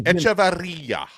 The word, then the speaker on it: Echevarria: E- Echevarria. You got to roll your r's. You got to roll those r's.